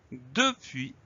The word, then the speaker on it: depuis: depuis hors de suisse écrit au début comme il se prononce depuis15 les tre muette le s donc on n'oublie pas cette lettre muette c'est le seul piège de ce mot là depuis depuis15 mots depuis